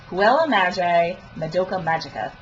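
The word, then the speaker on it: Puella Magi Madoka Magica: got to see for, okay, I'm going to pronounce this right, Huela Magi Madoka Magica.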